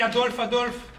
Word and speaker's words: Adolphe: Comme tu le sais très bien, le Adolphe de Hitler s'écrit avec un F. Alors que le mien, le Adolphe français, s'écrit P-H-E. C'est pareil. F et PH, c'est pareil. Je pensais que pour un normalien, tu serais un peu plus à cheval sur l'orthographe. Mais à l'oreille, c'est pareil, Adolphe.